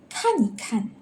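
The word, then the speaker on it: 看一看: To show an action, it becomes soft and neutral. So for example, 看一看. Kan is actually look, so it's an action, so it's a verb, so it's in between these two same verb. We change the E into neutral tone, so just read it softly.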